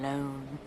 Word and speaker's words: Lone: Tom Lone. It takes the normally talented and adorable Alex Borstein and somehow makes her unfucking bearable. Rhymes with cone, phone, bone.